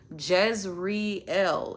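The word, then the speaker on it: Jezreel: even knows my name, let alone how to pronounce it. Jez reel. It's not complicated.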